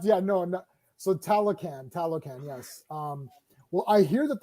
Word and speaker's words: Talocan: It's Talocan. I knew that. Rhymes with Taliban. Oh, no.